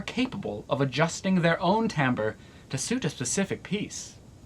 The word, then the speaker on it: timbre: I shouldn't have said that Timbre it sounds different than how it's spelled and we have the French to thank for that Tamba refers to the unique